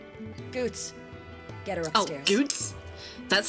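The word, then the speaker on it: Goetz: Goots? That's how that's pronounced? Don't I thought it was fret about Goites.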